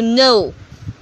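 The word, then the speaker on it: know: K-N-O-W, no. W-R-A-P, wrap. H-O-U-R-R. C-H-A-L-K, chalk. In these words, we do not pronounce the highlighted letters.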